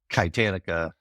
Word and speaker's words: Kitanica: And we spell it with a K instead of the CH so that people say it right.